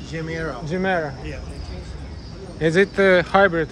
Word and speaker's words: Chimera: How to pronounce? Chimera.